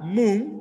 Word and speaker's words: moon: Las siguientes, luna, moon, empieza con M y tiene doble O. Se escribe moon, pero la letra O duplicada suena como una U larga.